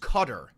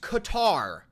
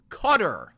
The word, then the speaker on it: Qatar: For the fifth time, Qatar is pronounced Qatar. It's not pronounced Qatar. It's pronounced Qatar.